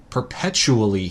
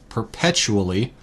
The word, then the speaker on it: perpetually: in ly pretty commonly perpetually here is five syllables per pet Q L Li perpetually a lot easier to say quickly than slowly like that perpetually it's definition is